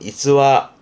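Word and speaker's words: 逸話: 뒷글자가 화자, 일화, 발음은 이츠와.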